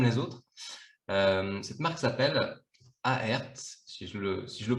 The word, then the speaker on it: Aerth: Cette marque s'appelle Aert, si je le prononce bien, si je la prononce C'est bien.